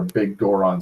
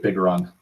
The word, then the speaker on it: Bigoron: Because there's a lot of fucking steps to getting the Bigoron sword, or Bigoron, or Big Goron sword. I've always pronounced it Bigoron. It's all one word, bitch.